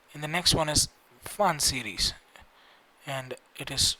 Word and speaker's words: Pfund: and it is written as BRACKETT, bracket series, and the next one is fun series, and it is spelled as PFUND, fun series.